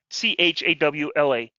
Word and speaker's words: Chawla: Yeah, CHAWLA. That's how I have it. You don't have it spelled that way. You spell it wrong.